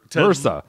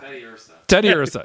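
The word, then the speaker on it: Teddiursa: Ted Lursa. Ted Lursa. Ted Lursa. Teed Lursa. Teed Lursa. Teddy Ursa. Teddy Ursa. Teddy Ursa. There's no L. The L is silent. Like a teddy bear.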